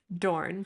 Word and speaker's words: Doiron: Okay, so in America, Doiron, like Dorn.